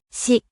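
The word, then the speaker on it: 死: Le mot mort se dit Si.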